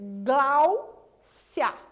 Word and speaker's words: Gláucia: Olha o meu nome, por exemplo. Gláucia. Qual das sílabas que você acha que é mais forte? Glau, né, professora? Portanto, eu vou circular o glau. Sílaba mais forte, sílaba tônica.